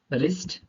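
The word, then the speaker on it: wrist: आर के पहले W silent होता है, आर के पहले अगर डब्ल्यू आ जाए तो वो साइलेंट रहेगा, वो शब्द साइलेंट रहेगा। कैसे रहेगा? Wrong, राइट, rap, wrapper, रिस्ट।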